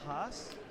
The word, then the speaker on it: Haas: Just say Haas is pronounced with the long ah sound. As. I was going to say Thank you for the correction. The long ah sound. Thomas Haas.